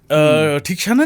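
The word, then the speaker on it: Theekshana: बात याद आई है ठीक शाना को किस तरह प्रोनाउंस करते हैं ठीक शना ठीक शना हां आल्सो स्टेल से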